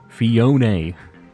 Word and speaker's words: Fiona: Fiona. There's an emphasis on the O, they said. Fiona.